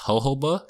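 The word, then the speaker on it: jojoba: Did you guys know that Jojaba is actually pronounced hoba?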